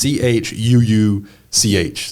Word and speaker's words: Chuuch: But it's CHUUCH. There's just no R in the church. Yeah. There's a U where the R would be.